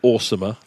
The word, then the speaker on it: OSAEMR: Yeah, you may choose to pronounce it awesomer.